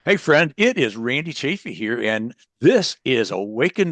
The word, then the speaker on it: Chaffee: I didn't know you pronounced it chaffy.